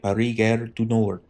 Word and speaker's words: Paris Gare du Nord: I'm gonna say it like a French would, right? Paris Gare du Nord, just after 1 o'clock.